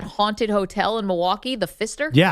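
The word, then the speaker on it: Pfister: The Fister spelled with a P.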